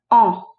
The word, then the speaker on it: en: understanding how to use the pronoun e n which is pronounced o as you already know